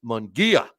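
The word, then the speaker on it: Munguía: give you my thoughts on that uh Hae mongia did I say it right I've been criticized about how I've been mispronouncing his name and it's mongia I even went to uh uh I went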